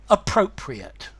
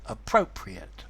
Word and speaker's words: appropriate: So, appropriate. Notice the pronunciation. Appropriate.